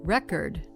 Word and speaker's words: record: Record versus record. spelled exactly the same, but one is a noun and one is a verb.